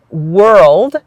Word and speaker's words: world: And so that word world has the same sound as were.